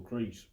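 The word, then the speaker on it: Crees: were doing commentary, and it was actually pronounced Michael Crease.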